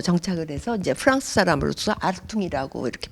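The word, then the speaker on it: Hartung: 하지만 나중에 파리에서 정착을 해서 이제 프랑스 사람으로서 아르퉁이라고 이렇게 발음을 하는데, 여러분들 보시다시피 수직선으로밖에 작품이 안 돼 있어요.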